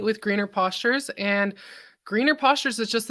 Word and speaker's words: Postures: had that part right A lot of people say pastors no we're going for posture here nice yes I